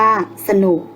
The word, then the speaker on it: สนุก: สังเกต กัน นะ คะ เวลา อ่าน จะ อ่าน เหมือน มี หอ หีบ อยู่ ด้วย เช่น ผลิต อ่าน ว่า ผลิต Siam อ่าน ว่า สยาม ฉลาด อ่าน ว่า ฉลาด สนุก อ่าน ว่า สนุก ต่อ ไป เรา จะ